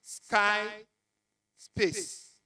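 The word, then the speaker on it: SciSpace: mathematical tables, you use Sky Space. Sky Space is spelled S-C-I-S-P-A-C-E. Sky Space.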